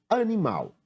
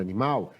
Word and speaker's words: animal: Na palavra animal. Na palavra animal, eu tenho três sílabas: a, ni, mal. Qual é a sílaba que eu pronuncio com mais intensidade, com mais força nessa palavra?